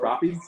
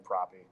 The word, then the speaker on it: Propy: Can you spell it out for me? Yeah, PROPY. Propy?